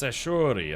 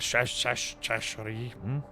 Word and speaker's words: Sashori: Ah, it's pronounced Sashori. Okay, not Shashori.